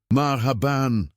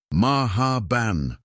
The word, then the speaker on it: Marhaban: Marhaban," she repeated for the 15th time, her lips moving slowly and deliberately. "The H is pronounced from the back of your throat like you're clearing it gently." "Maha ban," Marcus attempted, sounding like